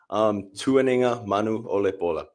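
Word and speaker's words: Tuanigamanuolepola: Tuaninga Manu Olepola.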